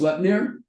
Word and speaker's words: Sleipnir: Turned himself into a woman and gave birth to an 8-legged horse, pronounced Sleipnir.